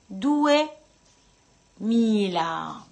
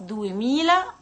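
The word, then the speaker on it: duemila: طب عاوزين نقول 2000، دو ميلا. خلاص دو ميلا يعني 2000 مش ميلي، خلي بالكوا في طريقة الكتابة وطريقة النطق.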